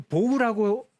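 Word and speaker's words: bow: 활 나왔습니다 활 당연히 레인보우 할 때 그 보우라고 발음을 해야 된다고 그랬죠 그런데 바로 전에 배웠습니다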